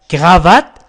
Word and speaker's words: cravate: هناك أماكن، مثلا أماكن في كندا يقولون كرافات ينطقون في اف هنا. إذن oui je cherche une cravate. Oui je cherche une cravate pour mon mari. cravate هو النطق الصحيح.